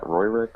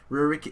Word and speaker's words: Rurik: How do you pronounce that? Royrick? Rurik. Rurik. Rurik. It sounds kind of Russian when you try it. Or Japanese. Rurik. Russian Rick. It sounds like you're saying lyric Japanese.